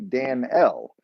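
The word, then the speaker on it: Dan'el: In fact, the way it's spelled in the Hebrew is actually Dan-el, not Daniel. It doesn't have the God is my judge.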